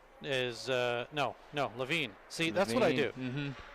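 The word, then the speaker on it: Lavigne: like a little laig and then just but LaVine is is rare I usually don't get LaVine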